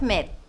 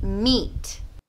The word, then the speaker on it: meat: got a lot of mid it should be meat meat meat and meat is the same as meat they sound exactly the same meat meat angus is